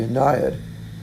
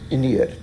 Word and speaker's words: Aeneid: wrote this actually in the anniad ined depending on how you say it wherein he says